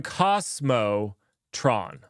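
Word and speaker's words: k0smotron: you you'll be wrong their logo is a monkey named Cosmo so they're they're going Cosmo Tron okay I got it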